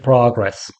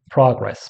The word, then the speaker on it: progress: We use this word as a noun, okay, like make progress, okay. When you use the word as a noun, that's pronounced progress, but when it's used as a verb, it changes to progress.